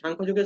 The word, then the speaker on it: সাংখ্যযোগ: আমরা এখানে আরেকটু ভুল করি যে এখানে আমরা বলি সংখ্যা, হ্যাঁ, অনেক সময় এর উচ্চারণ করে আমরা দেখি, প্রায় সময় যে কোনো গীতা শ্লোক শুনি, তো তখন এখানে শোনা যায় যে সংখ্যাযোগ। না, সংখ্যাযোগ কোনো যুগের কথা না, এটা হবে শঙ্খযোগ, সরি, সাংখ্যযোগ।